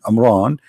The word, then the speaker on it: Imran: of mooses and Mohammed II even pronounce the name wrong because it's a home ROM Imran it is a mom which means the last